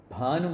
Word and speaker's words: Bhanu: Bhanu Mandala Madhyastha. The stress is on Bha, not Bhanu.